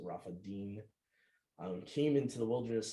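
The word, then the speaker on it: Rephidim: departed from Rafa Deen so that's how uh best I would pronounce that you have an N there instead of an m so Rafa Deen um came into the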